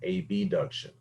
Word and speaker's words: abduction: and circumduction a deduction a b duction notice i said a d and a b adduction is how it's actually pronounced and abduction is how that's actually pronounced but because they